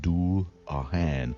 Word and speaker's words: Dullahan: We are going to take a quick deep dive into the Dullahan, pronounced Dullahan, also referred to as the Headless Horseman.